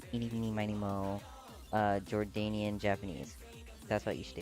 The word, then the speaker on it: Jordanian: Um, I hate it when people pronounce it like Jordane. Did I Is that not how did I pronounce it correct?